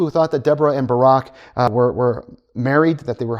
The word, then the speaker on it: Barak: Most of my life growing up, I said this name Barak, and then we got a president with this name. And it was like, oh, that's how you pronounce that.